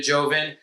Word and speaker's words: Joven: Sometimes I'll say Joven because people always, just. I'm sure I've heard other people say Joven. I would just jump out a window and just say yes. But then they'll misspell it whenever I say Joven. But then if I, say Joven, then the Spanish yell at me.